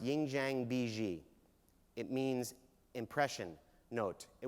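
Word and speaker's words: 印象笔记: It's pronounced Yingjiang Biji.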